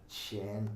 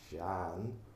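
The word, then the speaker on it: Seán: So you pronounce the vowel broad S-E-A-N, Shan. But when people see it written, and even when I say Shan, they go, oh, Sean.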